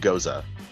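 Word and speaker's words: Gose: mixed berries sour ale first of all Brandon Gosa or goes how do we pronounce this it's pronounced it's pronounced Goza for the official style but we actually just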